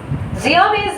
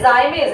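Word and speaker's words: zymase: जियामेज नहीं, जाइमेज है।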